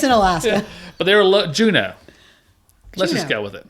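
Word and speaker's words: Juneau: Juno.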